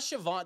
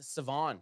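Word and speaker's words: Shavon: And we- it's not Siobhan. They've I guess Siobhan? it's Savon. The Oh, H is, Savon. yeah, the Savon H is, Revel? the H is silent.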